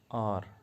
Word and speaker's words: hour: बहुत सारे लोग इसको हवर पढ़ते हैं, ये हवर नहीं है, ये है आर, HOUR। हालांकि लेटर जो है वहाँ पे एच है जो अपने आप में वाव नहीं है, लेकिन जब हम इसको प्रोनाउंस करते हैं तो हमारी जो आवाज़ है वो आएगी आर, आर, आ।